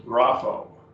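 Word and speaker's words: γράφω: Grapho up here. Two syllables, grapho.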